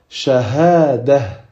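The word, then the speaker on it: شهادة: Mais si on s'arrête sur ce mot-là, du coup, on efface les deux petits points et c'est comme si c'était un ha. Et on dira shahada. Shahada.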